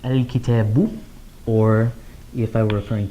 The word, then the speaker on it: الكتابُ: I would add a dhamma there, so I would pronounce it al-kitabu.